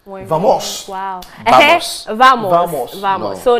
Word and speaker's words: vamos: Vamos. Wow. Vamos. Vamos. No. So now Spanish... We don't say, in Spanish, the V is pronounced B.